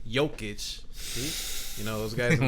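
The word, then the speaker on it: Jokić: to be forced to step up and help joke itch see i said it right jokic you know those guys in the comments you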